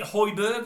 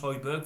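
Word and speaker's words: Højbjerg: United and now after is it Hoiberg I think he's pronounced heidberg from Spurs Central midfielder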